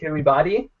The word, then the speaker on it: Kiribati: Kiribati. Yeah. Just pronounce all the vowels.